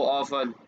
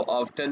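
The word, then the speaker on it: often: हाउ ओल्ड आर यू, हाउ ओल्ड is your brother, how ऑफन कितनी बार, ये हाउ ऑफ्टन नहीं है, हाउ ऑफन, T silent है।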